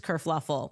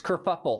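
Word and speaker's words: kerfuffle: Causes this whole race kurfluffle. Oh, no. That's it's kurfuffle.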